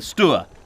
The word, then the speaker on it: Stour: Sea Scouts there and they definitely called the river the Stuart not the sour hence my pronunciation but what do I